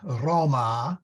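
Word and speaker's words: Romā: for example in feminine you say Roma but you say in Roma with a long a I'm I'm exaggerating it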